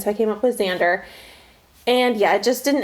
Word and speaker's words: Xander: so it would just, when you say Xander, I would just think Z.